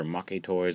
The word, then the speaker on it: Maketoys: is the review for the make toys or M toys um I've heard it pronounced both ways I'm pretty sure it's supposed to be make toys but whatever uh battle